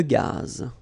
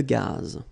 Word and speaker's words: gaz: Une conduite de gaz. Final not pronounced here. Une conduite de gaz.